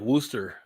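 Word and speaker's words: Worcester: one of those things it's kind of like woster up up in the Northeast and Vanessa knows this and it's not spelled like Worster when they spell wer up there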